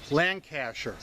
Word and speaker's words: Lancashire: Joe, Lancashire is pronounced Lancashire. I know it's spelled differently, but trying to spell it as we say it in the UK, no doubt others will say it differently.